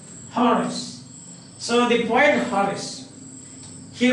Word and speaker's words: Horace: the horse this is how the pronunciation the pronunciation is given like Horace Horace so the quiet forest he rots olds or